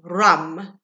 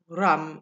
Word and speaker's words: ram: um we're working with rum okay so ram and it's obviously a spelt ram but pronounced rum so if you try